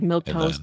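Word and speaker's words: milquetoast: It's just like I said, it's just spelled with the like funny Yeah.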